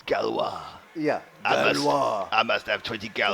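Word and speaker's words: Gauloises: How did you think How did you think that French cigarette was pronounced? Gales. Yeah. Galouses. Yes. We had about four goes in it. Well, that's how it's spelled. Well, who would ever think that? If you don't know French, though, it's galwis.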